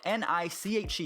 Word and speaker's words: niche: need to find your niche. Now, if you don't know what niche means, it's spelled N-I-C-H-E. You could say niche, you could say niche, or niche that I like to say.